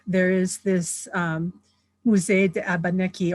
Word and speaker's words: Abenaki: At Odanak, there is this Musée de Abenaki, or Abenaki, actually, that's how you say it in Abenaki and in French.